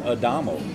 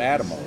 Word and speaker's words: Adamo: For example, Highway 60 that everyone mispronounces is Adamo, not Adamo.